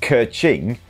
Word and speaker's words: Qi Xing: And Neil J says, Qi Xing in Chinese is pronounced Ke-Ching, which is exactly what they say as they collect all our money.